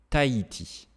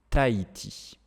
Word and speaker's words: Tahiti: Tahiti, Tahiti. Alors aussi, c'est parce que le H en français, vous savez, on ne le prononce pas en général.